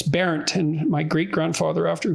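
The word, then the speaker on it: Bernt: I probably never admitted that to anyone, but because it was parodied as burnt, because that's B-E-R-N-T, that's how it's spelled, and so it was an object of mockery. But so I didn't look into it much. But it's Berent, and my great grandfather,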